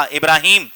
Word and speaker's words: ابراہیم: ساتھ پڑھا جاتا رہا۔ ابراہیم یہ جو ہے سب سے درست نام ہے اور سب سے درست تلفظ ہے کہ قرآن پاک کے اندر بھی یہی تلفظ آیا ہے ابراہیم علیہ السلام